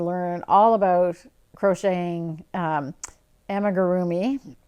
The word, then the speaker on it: amigurumi: all about crocheting um emma gurumi she taught me how to pronounce that word properly emma groomy and llamas so go